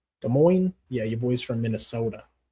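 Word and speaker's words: Des Moines: You in De Moines Moines or De Moines because you don't I don't think you pronounce the S. De Moines.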